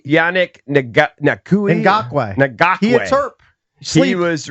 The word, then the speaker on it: Ngakoue: Ngakoue.